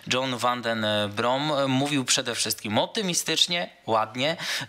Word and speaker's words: John van den Brom: zakończymy ten program John tak się okazuje wymawiamy jego imię John Van Den brom mówił przede wszystkim optymistycznie